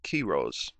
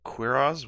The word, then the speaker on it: Quiroz: of time, but no, it's actually Rick Keyrose. So yeah, there it is on the record. Now I'm saying it correctly. I was like, Quiroz? Why am I saying that? Let that be the last time I say it that way.